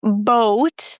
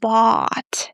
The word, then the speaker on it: bought: I've noticed that a lot of people, especially stutter speakers, love saying boat, but there is no O, it's just bought. You pronounce it just like the word bought.